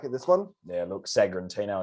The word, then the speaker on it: Sagrantino: Sagrantino, or if you want to say it really nicely, Sagrantino. Yeah. You got to roll your R's.